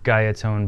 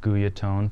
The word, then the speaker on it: Guyatone: bar for you today this is another gaiatone base or guyatone for those who want to stick to the traditional pronunciation uh we've already kind